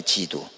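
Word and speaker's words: 基督: 어 그리스도를 우리가 이제 한문으로 쓰면은 라고 써요 지두 독이라는 말 기독교라 그러죠 독이라는 말을 우리는 기독교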